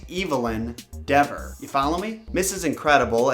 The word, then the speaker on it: Evelyn Dever: That's just one idea, could be wrong, but I can't help but notice that Evelyn Dever's name sounds like evil in Dever. Maybe that's actually how it's pronounced. Evelyn Dever.